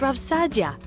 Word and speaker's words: Rav Saadia: with meaning and purpose RAV Saadia for example it's pronounced RAV Sadia got it thanks published